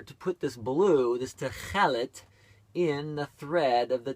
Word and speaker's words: tekhelet: And to pronounce it is Techelet. Techelet.